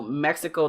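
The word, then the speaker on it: México: of you don't know mexico though in english pronounced mexico the ex is actually more like an H so in Spanish is pronounced Mexico so you you know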